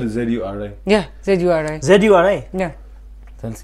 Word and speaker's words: Zuri: Z-U-R-I? Yeah, Z-U-R-I. ZURI? Yeah. That's cute. It was ZHURI. Zuri. Zuri. Like, Huri Batas types. Huri. Zuri. Zuri. What does it mean?